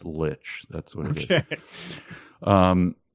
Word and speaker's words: Lich: It's probably pronounced I J, watched like a, the letter. I watched a 10-minute video. It's Lich.